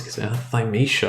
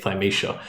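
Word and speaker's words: Thymesia: What's Thisha? I think that's how you pronounce it. It's T H Y M E S I A Thishia."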